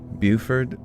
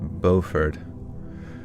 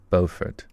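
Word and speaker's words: Beaufort: Buford is pronounced Bofford. I feel like I've been saying Buford though the whole time. And then what do they say? Let's see. We got the English one. Bowfort. Oh, but then the English one or the American one says Buffert.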